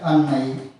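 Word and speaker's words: 案内: For example, An plus Nai followed by N sound, it is pronounced as Annai.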